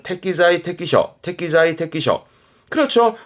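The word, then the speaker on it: 適材適所: 발음은 태기자의 태끼셔 태기자의 태끼셔.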